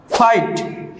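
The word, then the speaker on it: fight: ফাইট, যুদ্ধ। প্রত্যেকটি ওয়ার্ডের সাথেই জিএইচ আছে, প্রত্যেকটি ওয়ার্ডের সাথেই জিএইচ আছে এবং কোনোটারই উচ্চারণ হয়নি।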